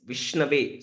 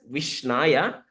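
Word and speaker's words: Viṣṇave: call it as Vishnaya, but actual correct word is Vishnave. So a Brahmana can pronounce it as Vishnave, and a less intelligent person can call it as Vishnaya.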